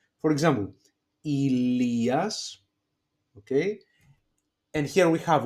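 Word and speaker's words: Ηλίας: So if you happen to see the three last diphthongs, they are pronounced as e. For example, Ilias, okay, and here we have one diphthong, epsilon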